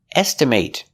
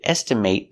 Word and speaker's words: estimate: Our next example is estimate. Estimate is the pronunciation when it's a verb. Example, I need to estimate the cost of the job with the long a.